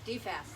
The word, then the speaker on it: DFAS: DFAS, that's how you pronounce it.